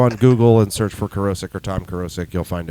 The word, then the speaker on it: Kerosec: Google and search for Kerosec or Tom Kerosec, you'll find everything else pretty much. Okay. Very cool. Yeah, And Kerosec with a K. with a K, Yes. Like kerosene. K-E-R-O-S-E-C, Kerosec. pronounced like kerosene, Yeah.